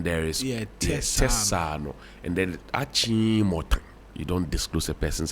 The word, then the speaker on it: Achimota: And so, when I get to know what the right pronunciation is, Kolebu, Achimota, Bubiashi.